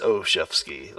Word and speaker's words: Oshefsky: why gosh it's uh it's oshefsky like a chef on skis that's so easy to